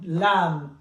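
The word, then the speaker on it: لام: And then we have the letter L as the English, lam, lam. So we write L. It's exactly like this one, very simple. We go up, we go down. Lam, like the letter L.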